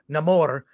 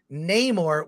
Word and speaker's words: Namor: work for me um he's the only one who calls himself Namor and everyone else says Neymar which is the pronunciation we've used for years I I will say